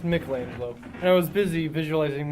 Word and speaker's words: Michelangelo: It's pronounced Michelangelo, and I was busy visualizing my next great creation, the sculpture of an adolescent monstrosity hero amphibian.